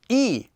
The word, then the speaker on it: 이: just one line going down this one is pronounced as well let's use our empty consonant to hear it e e so now let's do some more practice